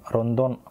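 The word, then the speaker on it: ロンドン: அதாவது ரோ இன் தோ இன், ரொந்தோன்.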